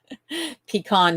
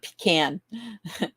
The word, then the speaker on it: pecan: And Clint says, it's pronounced pecan, not pecan. Or is it the other way? It's pecan and not pecan.